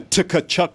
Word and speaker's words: Tkachuk: to somebody in a Tkachuk jersey. I was like, man, you're not a hockey fan if you pronounce the T.